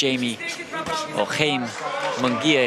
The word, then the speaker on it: Jaime Munguia: Knocked down once against Jaime Munguia, if we were to give it his correct pronunciation, in the 6th round, but got up to see out that fight.